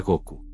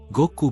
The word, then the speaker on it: Goku: instante, tu nombre será Goku. Pronunció las dos sílabas con claridad y una solemnidad alegre. Go, como la fuerza que te trajo aquí, y Ku, como el cielo del que caíste.